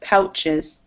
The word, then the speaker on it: pouches: So this OU, it's making an ow sound. Pow. Pouches.